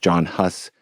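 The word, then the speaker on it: Jan Hus: Um, one of my great personal heroes is Yan Hus, sometimes pronounced John Hus.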